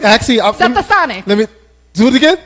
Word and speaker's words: Stetsasonic: Stetsasonic. No, you was close again. Stetsasonic.